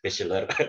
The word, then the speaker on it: bachelor: Kemudian ini degree yang sedang saya kejar, bachelor S1. Itu jangan lupa ini bacanya tuh yang ini ceh ya, bukan she, tapi bachelor ya, bachelor, bukan bachelor tapi bachelor.